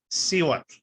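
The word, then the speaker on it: cihuatl: Okay, but sometimes it's not a K sound. This is not a K sound. This is Siwat.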